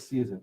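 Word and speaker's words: seisin: a gift of property it's called livery of season s-e-i-s-i-n you'll see it's spelled you'll see it's both a z-s-e-i-z-i-n both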